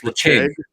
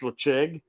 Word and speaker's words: Ledaig: Good, because I mean I've tried to tell people, how do you say Ledaig? It should say Ledig, but it's Lecheg. Yeah, it's Lecheg.